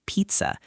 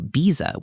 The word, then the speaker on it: pizza: this happy diary that 90% of students pronounce completely wrong. It's the word pizza. If they order it at the diner, they say "bizza" with a B, and that sounds very weird.